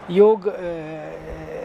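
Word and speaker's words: योग: If it is translated from Sanskrit, yog, it's actually pronounced yog, and it means union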